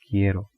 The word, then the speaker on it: quiero: Actually the ending in O is because of yo, I pronounce. So that is, in Spanish we have the we pronounce the word with the matching endings, like ella, like ending A, una, chica. So we have yo quiero, O.